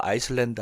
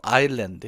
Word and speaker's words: island: 아일랜드죠.이 s 발음하 하시면 안 돼요. 아이슬랜드 하면은 나라 이름이죠. 아일랜드 해야 돼요.이 섬이죠.